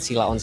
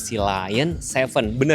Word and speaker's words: Sealion 7: Ingat ya ini penyebutannya pelafalannya bukan sila on tapi BYD si Lion Sevenar ya Mbak ya?